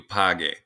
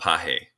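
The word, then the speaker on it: pague: for the dinner pause pagar is a gar verb and so remember it's make it a hard g out of you page that way it's not pahe okay my mom wants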